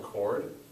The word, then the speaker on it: chord: points and this is called a cord with a silent h this is something we'll